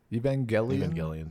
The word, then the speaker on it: Evangelion: And at the slightest mention of, is it pronounced Evangelion? Is it a hard G? Evangelion. That's how they say it, yeah.